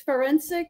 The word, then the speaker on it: Ferencik: correctly you did good you did great um it's forensic like oh like like right